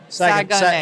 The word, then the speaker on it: Saguenay: Saguenay. Saguenay. Yeah, we had to learn how to pronounce it correctly.